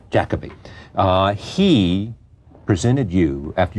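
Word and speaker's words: Jacobi: a thing in which I said Jacob being Jacoby is what's the correct pronunciation Jacoby uh he presented you after your performance on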